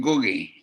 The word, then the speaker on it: Ngugi: But call me Ngugi, like or Professor Ngugi.